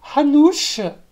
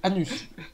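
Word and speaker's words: Hanuš: voilà, ça se prononce Hanouche, mais ça se lit Anus.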